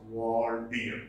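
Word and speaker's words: Waldere: So this talks about the advantage, the exploits, the heroic deeds of this legendary king, Walter Aquitaine, that is Waldir. It is pronounced Waldir.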